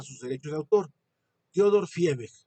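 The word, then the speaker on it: Viehweg: Theodor Fiebeck, la V en alemán se pronuncia como F.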